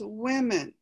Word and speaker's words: women: woman and this is women so you pronounce both of the vowels completely different in fact women and